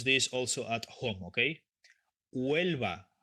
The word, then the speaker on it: Huelva: Okay, Huelva, no Huelva, Huelva, Huelva, because the H is mute silent.